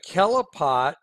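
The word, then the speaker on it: Qliphoth: it okay so the kelipot I mean it's spelled it spelled qli pH o th or here's a good way to understand how to say it kelipot okay Hebrew and here's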